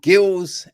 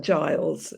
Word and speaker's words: Giles: I am joined by um we've got gills and Ali ceral right is that did I pronounce that correctly well you got coll correctly but I'm Giles yeah a damn it it's how the French